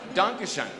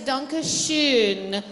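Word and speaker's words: danke schön: you know it done danke Shon hey well we knew danke Shon the product pronunciation of danke Shin is danke Schon NOS danke whatever you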